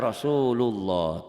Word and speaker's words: Rasulullah: Rasulullah dibaca Rasulullah tuh, Rasulullah. Tapi ini kalau Latin kayak gini tuh Rasulullah. Jadilah kamu bacanya begitu. Sebetulnya ini bukan Rasulullah. Ini Rasulu, ada W-nya di sini seakan tuh.